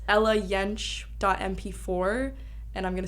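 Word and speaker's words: Yentsch: I like to plug a lot it's Ella yench dot MP4 and I'm gonna spell it because my last name is e-l-l-a-y-e-n-t-s-c-h dot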